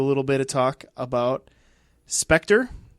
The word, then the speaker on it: Spectre: bit of talk about Spectre or as you Americans say Spectra uh and we'll do